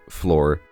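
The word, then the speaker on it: Flor: it's like that but floor is spelled f l o r because this villager's name is floor I I apologize for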